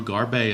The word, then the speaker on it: Garbey: sixth is barbaro garbey not to be confused with Steve Garvey for the podrace it's barbaro garbey as how it's pronounced kidding in the seventh